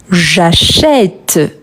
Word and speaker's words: j'achète: Mais quand je le prononce, je dis j'achète. J'achète, c'est un son ouvert. Donc, il faut ajouter un accent grave.